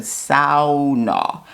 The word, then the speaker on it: sauna: And she took my chin, no kidding, guys, and she said, repeat after me. And she said, sauna. She's like, that's the correct way to say it.